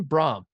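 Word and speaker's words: Brohm: Brom. Jeff Brom. He's coming back. Well, Steve Prohm messed me up, like that broke my brain when Steve Prohm went to Iowa State and then Jeff Brom's at Purdue and then, he's coming, right?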